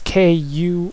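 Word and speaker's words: Kururu: name i've tried and her name is actually uh in japanese most accurately translated as k-u-r-u-r-u kuru so i'm going to call her krill because that's the closest as as i can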